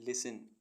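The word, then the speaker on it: listen: मीस कोमल करना एल आई एस टी एन लिसन लिसन मीस सुनना जे ओ एस टी एल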